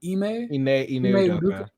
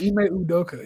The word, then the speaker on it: Ime Udoka: Ime Udoka. Udoka, right? Damn. Yeah, I said it right. Ime Udoka.